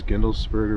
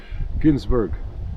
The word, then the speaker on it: Gindlesberger: or something you know my last name is gindlesberger but he he always didn't pronounce it he go Ginsburg go take truck get